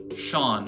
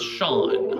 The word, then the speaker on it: shone: Shone. I keep pronouncing it shone. It's Sean. I should know that.